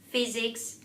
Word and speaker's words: physics: patient impatient PA important you only need to be careful with words such as physics physician um physiology phobia phenomenon these words are uh heard as F but you're not going to write down the letter F you're going to write down pH these are all Greek words